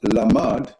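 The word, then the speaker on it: למד: Lamed Mem Dalet, the same spelling but pronounced Lamad, means to learn, to train for, to be trained, implying training that would be put to use.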